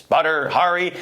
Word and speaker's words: Badr Hari: hell is butter Hari and how do you pronounce that name b a d r well there it is butter Hari the fighter who is known for winning titles